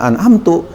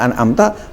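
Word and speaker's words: أنعمت: Nah, kalau misalnya dibacanya menjadi siratal ladzina an'amtu, berarti domir ana, bukan domir anta. Jadi yaitu jalannya seperti siratal ladzina an'amta, jalan yang telah aku berikan nikmat atas mereka.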